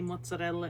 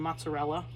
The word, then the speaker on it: mozzarella: Learn how to roll your R's. It just sounds so much better when you say mozzarella instead of mozzarella.